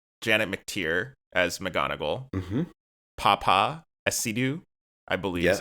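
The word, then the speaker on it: Paapa Essiedu: Papa Esidu, I believe is how you pronounce his name, as Snape.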